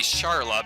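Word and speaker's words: Schala: young Lord Giannis yeah I know it's spelled Shala and the Japanese word for it is also Sala or Sara because they don't differentiate between RS and L's I like to say charlot because it sounds more like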